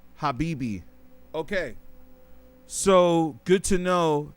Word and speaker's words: Habibti: So the t is silent. Habibi.